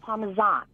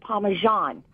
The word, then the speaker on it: Parmesan: But the true spelling and the true speaking of it is with the Z. You pronounce it Parmesan. What? Okay. Now, in America, we pronounce it Parmesan because we tend to change the dialect of the words that we see.